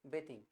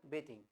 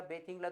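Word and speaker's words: bathing: म्हणता तुम्हाला I started बेथिंग काय म्हणायचं बेथिंग ठीक आहे किंवा त्याला बेथिंगला तुम्ही बाथिंग पण म्हटलं तरी चालेल पण करेक्ट प्रोनन्सिएशन काय असेल बेथिंग I have started बेथिंग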